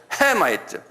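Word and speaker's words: Hamite: 근데 액센트가 다 있어요, 영어는. 한번 발음해. 쉐마이트 그래. 쉔 앞에 쉔에 있어요. 그 다음에 햄도 헤마이트, 그래서 헤마이트 그런 게 아니에요. 헤마이트. 그러니까 도레미파 솔로 올라가요. 한번 해보세요. 헤마이트. 예, 그렇게 해야 그게 영어. 다시 한번 해보세요.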